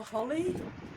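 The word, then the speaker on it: Holi: Two of us people celebrate, is it holy or holly? H O L I by throwing colored powders at each other. I think it's pronounced Holly like my name.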